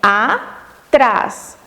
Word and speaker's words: atrás: Então, nós podemos classificar atrás como oxítona. Oxítona porque está, a sílaba tônica está na última sílaba da palavra.